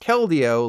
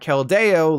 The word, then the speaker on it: Keldeo: Well, Keldeo is pronounced Keldeo, like rodeo, and not Keldeo, like Rodeo Drive.